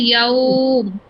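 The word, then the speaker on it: يوم: এখানে উচ্চারণটা কি হবে? ইয়াউম এরকম হবে। ইয়াউম। ওয়াইল, জি আপু। আইন, উরাইশ, খাউফ এরকম উচ্চারণ হবে।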